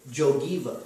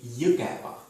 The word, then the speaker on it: Jõgeva: Actually, this is O with the roof, and it's pronounced like U, not O, U, or You U. know how we pronounce it? Yeah. Jogiva.